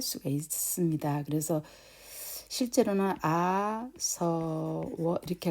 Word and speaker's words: āsava: 그래서 아사바라고 하지 않고 아서워 이렇게 발음을 해야 원칙적으로 맞는데, 네, 이거를 이제 처음 하시는